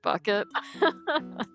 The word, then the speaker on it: Bouquet: There's a lady called Hyacinth Bouquet, but it's pronounced bucket.